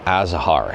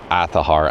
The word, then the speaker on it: Azahar: Almost every single video I get a comment saying it's pronounced Azahar. It's pronounced Aahar as per the developers. And I'm just honoring what they're trying to call the emulator here. It is pronounced Aar.